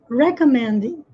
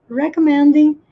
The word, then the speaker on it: recommending: Onde que está a sílaba tônica? Recommending. Recommending. E me. É aqui no me que tem que estar a ênfase.